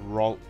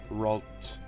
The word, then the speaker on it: Ralts: It's like Waltz. Waltz Disney. It's just like that.